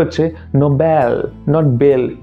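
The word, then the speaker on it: Nobel: উচ্চারণটা হচ্ছে নোবেল। নট বেল। নোবেল। একটাই জিনিস শুধু মনে রেখো ই এল যদি লাস্টে থাকে দেন এল উচ্চারণ সেটাকে করবে না। সেটাকে আল উচ্চারণ করবে আল।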